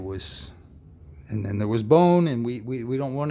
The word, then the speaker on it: Bon: e on the end it's a bone without the e on the end b o n but it is pronounced bone um indigenous tibetan culture